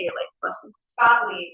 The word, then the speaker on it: Gottlieb: Gottlieb, it's Gottlieb. German for God's love.